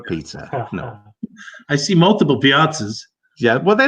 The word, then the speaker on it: piazza: The piazza. The piazza. Okay. I thought I might have heard a piazza in there a little bit, sort of like not a pizza.